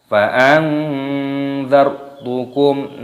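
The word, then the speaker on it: فأنذرتكم: Fa'anzar, roknya di sini dibaca sukun, dimatikan, dibaca fa'anzartukum, mim sukun bertemu dengan huruf nun, ini hukumnya dibaca idhar syafawi, cara membacanya dibaca jelas, jangan dibaca berdengung. Fa'anzartukum, tidak boleh, harus jelas.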